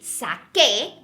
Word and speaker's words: saqué: Therefore, we have to change that C to a QU to keep that hard C sound. So now we would say saqué, and it would kind